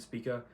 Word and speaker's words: Spica: said both spika and spika throughout the video but i truly don't know how to pronounce it but in my head s-p-i-c-a because p-i-c-a is pica so it would be spika but um yeah so